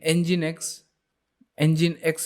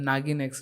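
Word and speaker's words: nginx: जो सबसे ज़्यादा पॉपुलर है वो ये दो है, नागिन एक्स, I mean एंजिन एक्स इसको प्रोनाउंस किया जाता है, नागिन एक्स नहीं।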